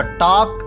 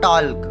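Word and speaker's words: talk: Next हमारा टी ए एल के टॉक, guys ध्यान दें 77 और 78 वाली वर्ब में एल साइलेंट रहेगा, एल का मैं उच्चारण नहीं करूंगा, इसका उच्चारण नहीं होता है, तो एल साइलेंट। तो टॉक नॉट टॉल्क, क्या बोलोगे, टॉक मीन्स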